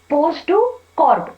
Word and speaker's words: POSDCORP: लेकिन अब ये जो तीसरा दृष्टिकोण है उसे कहा जाता है पोस्ट टू कॉर्प दृष्टिकोण। क्या कहा जाता है, पोस्ट टू कॉर्प।